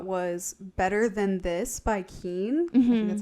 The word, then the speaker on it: Keane: only other thought was better than this by Keane that's how you say it um that plays